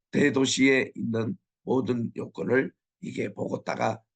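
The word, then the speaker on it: Bogotá: 있습니다 자 우리 콜롬비아 보고다 우리 보고 타라고 발음하는데 현지인들은 보고 따라고 발음을 하더라고요 해발이 2,600m 굉장히 아주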